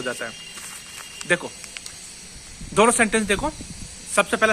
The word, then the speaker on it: हिंदी: हिंदी, मैं हिंदी को ऐसा वो करता हूँ, प्रोनाउंस है ना, हिंदी नहीं करता मैं। देखो हिंदी हमारी लैंग्वेज है। एक बार किसी ने बोला था, कोई वो कहाँ का था, बार्सिलोना का, कि सर एच साइलेंट होता है। बोल मुझे पता है भाई एच साइलेंट होता है, लेकिन हिंदी तो हमारे शब्द है, मैं क्यों एच साइलेंट करूँ।